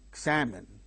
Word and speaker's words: examine: Examine, examine, examine. There are three syllables in the word. The second syllable strain gains stress. Ig is the first syllable. Min. Three syllables are there. The second syllable gains stress.